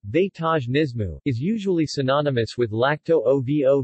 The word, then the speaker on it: vegetarianismo: have a basis as in canada vegetarianismo portuguese pronunciation vaitaj nismu is usually synonymous with lacto-ovo vegetarianism and vegetarians